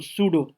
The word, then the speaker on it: pseudo: ठीक है, सूडो का स्पेलिंग यहाँ पे PSEUDO, सूडो।